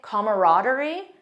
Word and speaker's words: camaraderie: Mine is camaraderie, because I love that feeling of closeness, trust, friendship. It's a positive word. And also, I had no idea there was another pronunciation that some people say camaraderie.